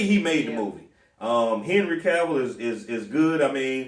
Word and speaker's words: Cavill: Henry Cavill is good. I mean, is it Cavill? Cavill, sorry. We want to make sure we pronounce names.